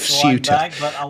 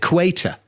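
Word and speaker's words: Ceuta: history of of of SU and can't even spell it. He spelled it cue EA and calls it quait where you know there is no such place.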